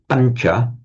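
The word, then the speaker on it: pañca: which is a pancha, we write that tilde sound over the n because it's a slightly palatized sound. Pancha, not pancha or pancha, but pancha. So the n is slightly palatized before the following sound ch.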